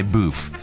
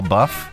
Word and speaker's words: LaBeouf: I always say boof, but Shia LaBeouf.